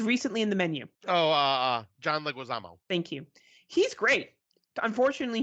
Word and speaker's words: Leguizamo: Now, John, I always say his name wrong. Lemos, he was recently in The Menu. John Leguizamo.